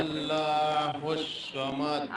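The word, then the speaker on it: ٱللَّهُ ٱلصَّمَدُ: আল্লাহু সামাদ, আল্লাহুস সামাদ, একটু কিন্তু স এর মতো উচ্চারণ হয়ে যাচ্ছে, আপনার উচ্চারণটা স বলা যাবে না, স বলতে হবে স্পষ্ট ভাবে, স স স স, সামাদ।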